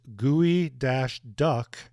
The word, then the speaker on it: geoduck: The gooey duck, pronounced gooey dash duck, lovingly made in the Northwest by people who really dig ducks.